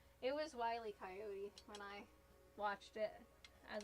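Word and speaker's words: Wile E. Coyote: Who else pronounced it Willie Coyote as a kid? If you did, you were correct and probably cool. It was wy coyote when I watched it as a kid, but I wasn't that generation.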